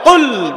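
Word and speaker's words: قُلْ: হবে মোটা ভাবে উচ্চারণ জিহ্বার গোড়া থেকে যদি উচ্চারণ করেন তাহলে অর্থ হবে কুল মানে বলুন কুল অর্থ কি আওয়াজ দিয়ে বলুন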